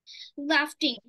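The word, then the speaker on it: laughing: write me এন্ড my friend right the cycle লাফটিং হি ইজ লাফটিং very much yummy the pronunciation is লাফ লাফ ইজ লাফিং very much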